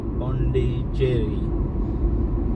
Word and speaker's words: Pondicherry: I'm controlling me here Bondi Cherry I'll get it right Bondi Cherry not Cherry for eating is Bundy cherry okay no problem a